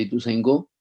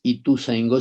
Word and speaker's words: Ituzaingó: a Viviana Metifogo de Ituzaingó. Le dije que no es Ituzaingó, sino que es Ituzaingó, que deberíamos aprender a pronunciar en el idioma ancestral.